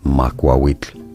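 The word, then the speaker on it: Macuahuitl: You are looking at Julian's pronunciation guide, where we look at how to pronounce Makwawitl. Makwawitl is how it is said.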